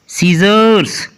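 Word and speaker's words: scissors: आगे है जी muscles, muscle में भी एस के बाद सी लिखा है इसलिए सी साइलेंट है। सीजर्स, सीजर्स में भी एस के बाद सी है इसलिए सी साइलेंट है।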